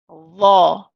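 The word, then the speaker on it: ظَ: We pronounce this as Dha, Dha.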